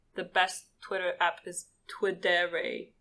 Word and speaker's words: Twidere: For anyone listening that cares about Twitter, the best Twitter app is Ternary. It's spelled TWIDERE will be linked in the description.